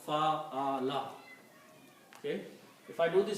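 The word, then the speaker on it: فَعَلَ: Just put a fatah on each of these and pronounce fa'ala.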